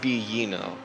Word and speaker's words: Biglino: I'm heard it's pronounced Biino. Biglino. Like you just ignore the L and the G.